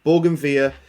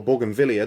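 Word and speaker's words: bougainvillea: via grows so well borgen via is that plant up there or borgenville depending on how you pronounce it is that plant up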